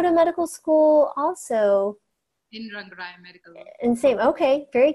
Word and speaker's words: Rangaraya: It's Rangaraya Medical College.